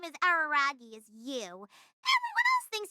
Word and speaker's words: Araragi: my name and instead ask you not to make it sound like I'm the Chunichi Dragon's mascot. It's Araragi.